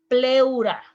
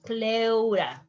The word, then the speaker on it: pleura: lung pulmones plural pleura in spanish you said pleura listen the pronunciation pleura pleura prostate in spanish you